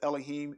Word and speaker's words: Elohim: They pronounce it Elohim. I think most of you kind of used to Elohim. It's actually it's Elohim, because You have the Aleph character first, which is the first letter of the Hebrew alphabet, and it's not L. It's not E. It's not a short E or a long E, the first letter in the Hebrew alphabet.